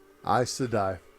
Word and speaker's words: Aes Sedai: Aes Sedai.